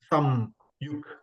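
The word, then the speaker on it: संयुक्त: So the ma is not written fully. So I then shortened it. I say some, not sama.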